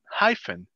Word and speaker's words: hyphen: Esta PH suena como F. Hyphen.